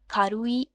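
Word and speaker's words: 軽い: ये रहा वर्ड खारुई, इसका मतलब है लाइट यानी हल्का। इसको अगर हम बोलें तो बोलेंगे खारुई, खारुई, खारुई। 3 syllables, 3 sounds।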